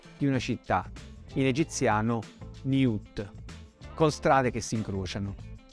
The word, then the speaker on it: niut: Poi la schematica pianta circolare di una città, in egiziano Niut, con strade che si incrociano, seguita dai fonogrammi I e T, pulcino di quaglia e forma di pane.